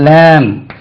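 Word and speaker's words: lamb: இது சும்மா தமிழ்ல எழுதுனேன் லேம்ப் பி போடக்கூடாது லேம்ப் இல்ல லேம்ப் லேம்ப் ஆட்டுக்குட்டி லேம்ப் இது லேம்ப் பா சொல்லக்கூடாது ரைட் இது லேம்ப்ல உண்டு லேம்ப்னா தீபம் அல்லது விளக்கு லேம்ப்னா ஆட்டுக்குட்டி லேம்புக்கு பி உச்சரிக்கக்கூடாது அதே மாதிரி டம் என்று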